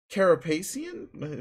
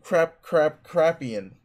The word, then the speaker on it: Carapacian: It's the latest issue of the inquiring Carapacian? Fuck it, internet it. Is that even a word? No, it's not. Fuck it, I don't care then. The inquiring crapian. Okay, that's obviously not how you say it.